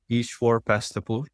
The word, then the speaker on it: Eshwar Pastapur: My name is Eshwar Pastapur. That's long E for people pronouncing my name.